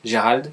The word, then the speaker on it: Gerrold: It's pronounced Gerald in French, but everybody calls me because I run the YouTube channel called The Smith.